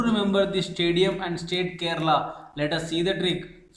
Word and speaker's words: Kerala: to remember the name Kerala? Let us see the trick. Friends, if you observe the first three letters of Kerala, K-E-R, its pronunciation is similar to care.